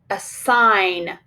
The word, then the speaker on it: assign: Assign, assign. You will be assigned your work each day. What will we mark under the word? Remember, we need to mark the G silent.